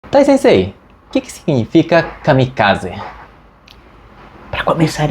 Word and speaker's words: kamikaze: Tensei que que significa Kamikaze para começar é kamikaz a pronúncia original é kamikaz em japonês Tá bom olha tem